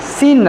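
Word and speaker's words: Seine: सीन river है ना? एस इ आई एस इ आई एन ई एस ई आई एन ई सीन river सीन वो इतना important नहीं है सीन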